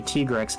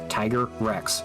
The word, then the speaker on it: Tigrex: I don't care that when they pronounce it with the actual voice acting they say tigrex that sounds stupid it's tigrex Tiger Rex Tiger Rex this thing is such